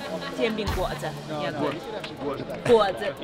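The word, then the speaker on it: 煎饼果子: Jian bing guo zi. Jian bing guo zi. Jian bing guo zi. Yeah, guo zi. Jian bing guo zi.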